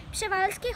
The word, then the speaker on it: Przewalski: Pshevalsky horses are the only species of horse. Pshevalsky.